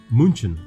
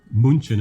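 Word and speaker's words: München: some of the vowels to make them from a short vowel to a long vowel so instead of uh munchen of munchen you know but with the two homeworks there so uh but we pronounce it munich and uh when i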